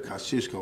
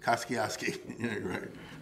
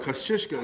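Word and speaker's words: Kościuszko: in america named after kosciuszko or as they say in new york koskiovsky because they can't pronounce it you know the famous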